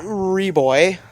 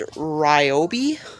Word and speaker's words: Ryobi: to pronounce this, but it's not Reboy. I think it's Ryobi.